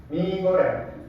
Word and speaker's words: ミーゴレン: ミーゴレン、ミーゴレン、ミーゴレンです。ミーゴレンです。ミーゴレンを食べます。ミーゴレンを食べます。三。ミーバソ、ミーバソ、ミーバソです。ミーバソです。ミーバソを食べます。 Nah, betul ya minasang, perbedaannya ada di mie. Mie pada bahasa Jepang dibacanya panjang.